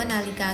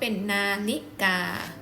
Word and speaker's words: นาฬิกา: นะ คะ คำ ว่า นาฬิกา ตัว นี้ จะ ใช้ ตัว รอ chula นะ คะ ซึ่ง ออก เสียง เป็น รอ แต่ เขียน ใน รูป ของ ตัว เรา chula นะ คะ ก็ เป็น นาฬิกา คำ ไป ค่ะ เป็น